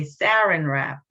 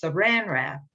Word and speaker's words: saran wrap: say this because i i would be tempted to say sarin wrap but it's saran wrap and someone showed me